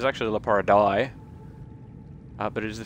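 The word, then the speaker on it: Leporidae: play and then a number um and yeah la pariday which is the way that i pronounce it uh it's actually it's actually la para dai uh but it is the family name of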